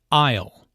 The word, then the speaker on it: aisle: who does which task aisle notice the silent s in Isle an isle is an